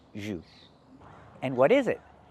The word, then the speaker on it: jus: This is orange juice. So, what is that word he's looking at? That is jus. It's French. And we pronounce it in English, jus. We don't say juice, we say jus.